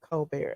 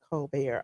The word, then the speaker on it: Colbert: It's said Colbert. It's pronounced Colbert.